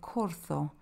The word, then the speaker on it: Corzo: The Corzo is this stag, and there you see that Z that I was talking about, but it's pronounced like a TH, a soft th, not a V, so Corzo.